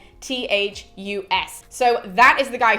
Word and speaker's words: Cloanthus: That was not a very confident pronunciation, but it's Cloanthus.